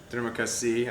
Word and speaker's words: terima kasih: We know how to say thank you, which is terima kasih, I believe, right? That's how you say it.